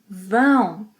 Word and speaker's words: vão: Vocês, eles, elas, vão. Nasal sound, vão.